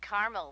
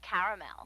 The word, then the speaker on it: caramel: what I said Tina actually you said Carmel when it's pronounced caramel can't we just call